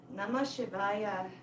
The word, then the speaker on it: Namah Shivaya: Namah Shivaya. Each syllable, na, ma, shi, va, ya, is each chakra all the way to our throat.